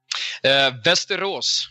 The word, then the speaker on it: Västerås: Västerås. Thank you. Yeah, what he said. It's beautiful. It is beautiful, but I was going to butcher it, so I wanted him to say it. Västerås, something like that.